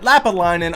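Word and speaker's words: Lappalainen: In the 8th minute, Lapalainen, I finally learned how to pronounce it, scores for Montreal.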